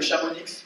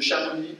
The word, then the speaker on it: Chamonix: fin des années 60, dans la vallée de Chamonix ou de Chamonix, ça dépend comment vous prononcez.